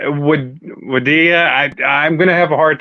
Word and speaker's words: Wadih: Jredini, is that how it's pronounced? Yes, yes. Hi, everyone. Yes, last name is Jredini. My first name is Wadih.